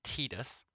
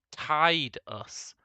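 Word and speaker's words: Tidus: why they'd call him tetus he's TI us he likes the water tide us it's the obvious way to pronounce his name why in the sequel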